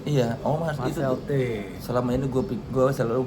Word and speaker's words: Marcel Thee: Kali ini sama Marcel tu atau T atau apa sih dibacanya? Bacanya sebenarnya T. Marcel T.